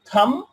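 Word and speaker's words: thumb: এখানে বি এর উচ্চারণটা বম হবে না। বম, খম, থাম, থামনেইল, থামনেইল।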